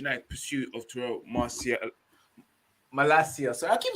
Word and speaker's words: Malacia: to terrell ma lacia sorry it's hard to pronounce his name guys sometimes you forget it's malaysia tyrell now i know i know we call